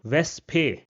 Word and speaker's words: Wespe: or the end, and in this case, it will be pronounced as it is pronounced in English. For example, the word Wespe, which means wasp, Wespe.